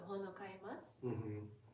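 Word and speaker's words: 本を買います: Hon o kaimasu. Hon o kaimasu. Please try and write in the comments below. Hon o kaimasu. It should never be pronounced like hono kaimasu.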